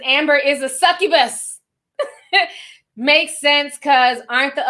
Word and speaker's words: succubus: sent five she says you can pronounce it it's succubus thank you so much